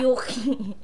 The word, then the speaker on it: Yuki: Hori Koshi Yuki si Yuki rhymes with cookie cooking ng ina mo